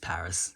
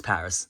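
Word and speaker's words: PVRIS: Paris a lot lately it's actually spelled PV RIS as well which uh you know it's weird when you see the name it's like how do I pronounce this it's just Paris it's Paris that's the band Ling gun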